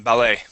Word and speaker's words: ballet: he became a passionate ballot B ballet dancer dancer ballet B dancer no you are correct the first time ballet uh ballet dancer instead